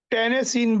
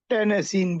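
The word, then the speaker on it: tennessine: Fluorine chlorine fluorine chlorine bromine iodine astatine और एक अब टेनेसिन भी कंफर्म हो चुका है।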